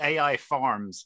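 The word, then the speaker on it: AIFARMS: We pronounced it AI Farms, by the way, I thought.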